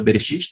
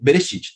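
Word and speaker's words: בראשית: se forma a palavra bereshit tá beleza chips a letra Alef não se pronuncia lembrar que só para você saber que pula né então aqui Heber City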